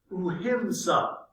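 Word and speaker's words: ahimsa: untouchables and south asian ideas of uhimsa or non-violence uh is how it's pronounced he took the idea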